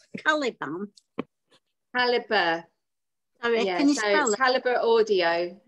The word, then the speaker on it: Calibre: Caliber. Caliber Audio. It's a charity. Sometimes people pronounce it Calibra as well. Yeah. I'm not sure. I just go Caliber.